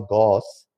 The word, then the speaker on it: Gauss: By the way, although we the Indians we call Gauss, but actually the pronunciation is Gauss. That is the German pronunciation.